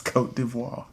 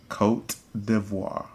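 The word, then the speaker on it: Côte d'Ivoire: a fancy pants no no name anymore it's cote d'ivoire i'm locked in i know they changed it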